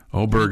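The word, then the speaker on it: Åberg: Man, everybody's got a different pronunciation on it. He's not helping. We asked him. He's not helping. Right. Oberg is what he had the Jim Nance opportunity said to fix us yesterday.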